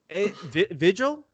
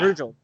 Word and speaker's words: Virgil: i mean technically i'm off-white so i'm on vigil right is that how you say his name vigil uh yeah virgil virgil there we go virgil dude virgil he